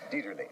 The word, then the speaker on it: Dieterle: Your first picture was, forgive my pronunciation, but I've always called him William Dieterle, is that right? Dieterle. Dieterle, right. Dieterle.